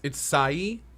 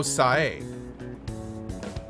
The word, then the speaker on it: Sae: Oh, it's Sai? How do you pronounce it properly? Sai? Sai. Okay. Cool. Sae? Oh, Sae. Sae.